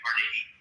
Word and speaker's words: Carnegie: for his employees far more than I respect Carnegie or Rockefeller. They were very greedy men. Okay, so pronounce his fucking name right.